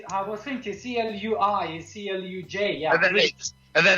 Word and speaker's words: Cluj: C-L-U-J, sorry. Cluj. Yes, I was thinking C-L-U-I is C-L-U-J.